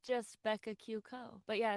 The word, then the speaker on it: Becca Q. Co: So the dot is silent.